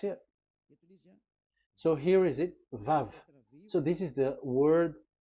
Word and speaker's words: Vav: So it's V as in Vogue. So it's really V. How to read Vogue? So the word, the shape Vav is really pronounced V, like Vogue. That is it, pronunciation. So here in this side, it's pronunciation. This is pronunciation. So according to the old Hebrew word today, those who the owner of the words, I mean, so it's a V. So don't change it into W, and you will say